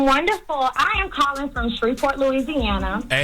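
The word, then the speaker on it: Shreveport: Because when he came down here for Human Harmony weekend, he's been pronouncing Streetport, Louisiana wrong since then. It's not Shreport. It's Shreport.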